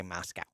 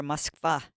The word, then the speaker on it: Moscow: How do you say Moscow? Moscow. Or Moskva if you're speaking Russian.